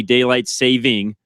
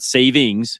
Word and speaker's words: daylight saving: It is only daylight saving, not savings. It's daylight saving time. No S. There's no S on there.